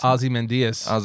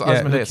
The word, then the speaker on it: Ozymandias: Ozymandias. Ozymandias. I say Ozymandias. That's what I say. Ozymandias. Because it's spelled O-Z-Y-M-A-N. It's also the way they pronounce it in the show.